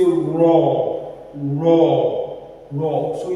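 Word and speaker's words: ر: But Ra is an heavy alphabet because when you are pronouncing it, you don't say Ra. Say Ra. Raw, raw.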